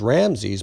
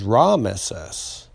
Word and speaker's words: Ramesses: and uh rama see they used to call the pharaohs ramses but that was ramesses comes from son of